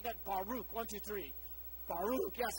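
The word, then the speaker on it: בָּרוּךְ: this word blessed in in the Hebrew it's pronounced Baruch can you guys say that Baruch one two three Baruch yes a wonderful rolls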